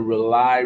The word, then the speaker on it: Rauli: On the Rely Radio Show. Rely is spelled RAULI. It stands for rebooting and uniting lost energies.